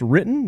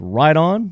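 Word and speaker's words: Riton: Ride-On Optics, it's R-I-T-O-N, not pronounced written. It's Ride-On, Ride-On price, Ride-On customer service, Ride-On target.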